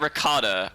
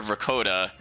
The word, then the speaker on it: Ricotta: boots chat and remember her name's not ricotta i have to remember to call her vakota because that that's how they pronounced it so yeah so